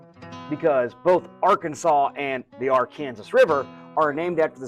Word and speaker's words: Arkansas: I pronounced R Kansas the way it's supposed to be pronounced, R.